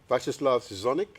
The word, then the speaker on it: Viacheslav Zgonnik: Viacheslav Zgonnik, is that how you pronounce it?